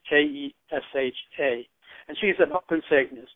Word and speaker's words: Kesha: There's a pop music girl named Keisha. I don't know if I'm pronouncing it right. It's Kesha.